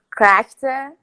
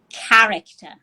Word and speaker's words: character: what you said uh corrector but the pronunciation is character yeah thanks exactly but